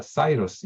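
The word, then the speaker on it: Cyrus: 하는 그 사이러스 실린더 영어로 하면 그 고레스가 사이러스 이렇게 발음이 나는데 그 고레스 실린더라고 하는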